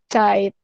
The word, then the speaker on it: Zeit: Contoh, Zeit, ini adalah gabungan Z sama EI ya. Jadi bacanya Zeit.